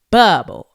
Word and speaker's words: Bubble: that part all right my name is bubble not with an s on it ain't bubbles it's bubble all right it's not